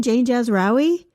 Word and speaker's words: Jazrawy: I heard my name, and it was perfectly pronounced. It was by voice you didn't recognize. Yeah, it was like Jazraoui.